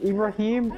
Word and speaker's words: Ibrahim: Because Ibrahim is how Arabian people pronounce Abraham.